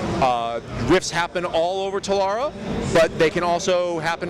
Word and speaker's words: Telara: booth we're here at uh rift plains of tabaria hilarious talara thank you nick this is nick he's going